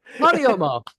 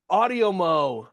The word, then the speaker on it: Audiomo: Oh, wait, how do you pronounce it? Audiomo. Audiomo.